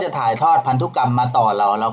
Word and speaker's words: พันธุกรรม: เขา เรียก ว่า พันธุกรรม อัน นี้ อ่าน ว่า พันธุกรรม ทำ รู้ กรรม คือ อะไร